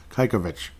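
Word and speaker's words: Čajkovič: So when I was like Kajkovic, no, Kajkovic. So I apologize, Kajkovic. Thank you, Derek, for the pronunciation on that one.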